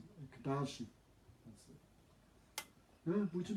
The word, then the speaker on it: Ekadashi: Maybe I'm not pronouncing it. Ekadashi.